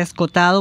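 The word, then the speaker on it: Escohotado: su apellido es se escribe es contado se pronuncia escotado bueno que es un extraordinario filósofo y jurista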